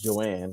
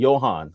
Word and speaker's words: Johan: So my wife's name is Joanne, right? And it's spelled the J O H A N. The H is silent.